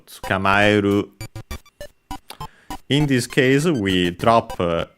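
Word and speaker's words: 捕まえる: Let's see its accent. Unaccented, okay, so tsukamaeru.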